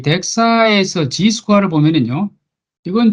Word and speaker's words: DXA: 지금은 이제 DXA라고만 씁니다. 그리고 읽기는 덱사라고 읽습니다. 그 다음에 이 덱사에서 G스퀘어를 보면은요, 이건 좀 다르죠.